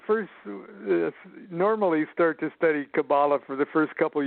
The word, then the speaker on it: Kabbalah: You don't even pronounce the word right. It's Kabbalah, Kabbalah," and I wanted to say, for this kind of study, it really doesn't matter.